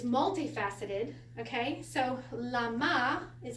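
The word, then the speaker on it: למה: So, lama is how you say it in Hebrew.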